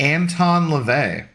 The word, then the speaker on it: Anton LaVey: he'd be okay you kind of look like Anton LaVey all right that name I do know I pronounced correctly well I don't think I've ever